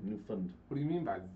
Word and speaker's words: Newfoundland: I have to say it how they say it. Newfoundland. Newfoundland.